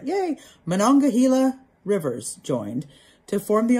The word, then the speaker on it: Monongahela: valley was the point where the allegheny and monongahela oh i said it right yay monongahela rivers joined to form the ohio river the